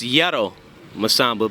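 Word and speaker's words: Yero Masamba: sure my name is yay ro masamba it's uh pronounced yellow masambo but everybody in the streets they call me jero okay it stands for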